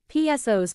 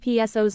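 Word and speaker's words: psoas: it is often called the powerful pso's pronounced so as for the many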